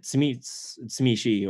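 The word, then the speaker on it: Tzimisce: I'm trying to say Tsimish now because apparently that's how you're supposed to. I don't know. I always call him Tsimitsi.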